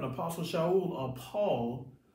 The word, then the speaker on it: Shaul: So we see in Romans 7, Apostle Shaul, or Paul, whose name was Saul, but in Hebrew is pronounced Shaul, he's speaking to Northern